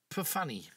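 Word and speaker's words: Pfanni: No, it's spelt P-F. A-N-N-I. Perfanny.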